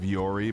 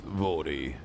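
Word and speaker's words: Vuori: I was like I I'm like there's no chance that's the way it's pronounced. like that uh clothing brand Vori that we all think it's like Viori, but it's Vori Vi.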